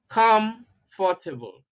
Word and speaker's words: comfortable: Now, examples of words ending with the suffix able. We have perishable, charitable, cultivable, habitable, comfortable. See, stress on the first syllable.